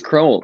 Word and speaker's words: Crowell: last name so it's cruel um pronounced like like bowl yes exactly cruel from uh glen merengi